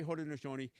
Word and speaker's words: Haudenosaunee: We say Haudenosaunee. In Mohawk, we actually say Rudenosaunee. We actually begin it with what you would say phonetically as an R instead of an H.